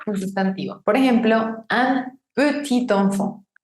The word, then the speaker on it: petit: Por ejemplo, un petit enfant. Petit, esa T no suena si la palabra está sola, pero se encuentra con un sustantivo que empieza con vocal, enfant, y hago la liaison.